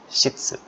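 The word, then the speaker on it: 室: jika Hi Ho paint ceklisnya itu bacanya Sitsu Sitsu Sitsu artinya kamar atau ruangan ini sangat sering minasangku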